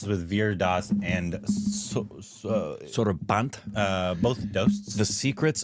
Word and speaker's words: Sorabh: Sorabh?